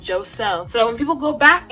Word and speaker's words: Joselle: no you're gonna send my name correctly it's pronounced joe cell not jose not giselle not jacelle or j whatever it's spelled j-o-s-e-l-l-e yeah i just made sure it was like it's pronounced joe cell so when people go back and they're like